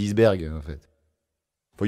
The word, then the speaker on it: iceberg: dire iceberg ouberg toi non normalement la prononciation c'est eberg mais personne dit isberg en fait il y